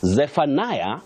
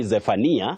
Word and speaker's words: Zephaniah: Zephaniah, locally we say Zephaniah, but you pronounce that English name as Zephaniah.